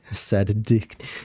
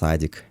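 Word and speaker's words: садик: Sad dick. We don't say it like sad dick. We say it's sadic.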